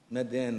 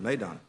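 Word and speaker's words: Meydan: expert and Dubai yeah Medan the race course in Dubai right M yeah mid I didn't pronounce that well not okay okay good Mayon okay good and uh he also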